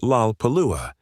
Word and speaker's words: Lollapalooza: It contains 4 L sounds in rapid succession at the beginning of syllables, Lola La Parua. For a Japanese speaker, each of these L sounds would present difficulty, making it virtually impossible to pronounce the word correctly without extensive training.